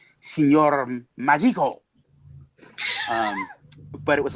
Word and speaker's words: Signor Magico: Which of course I'm not even pronouncing it properly. It's Signor Magico.